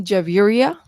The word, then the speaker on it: Javia: my favorite and uh you can call me javia so all the syllable